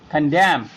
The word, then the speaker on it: condemn: then the silent letter, then the N will be silent letter in that word. You can see here, autumn, we are not pronouncing N here. Column, dam, hymn, condemn.